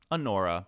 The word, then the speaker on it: Anora: Anora. But like honor with an A.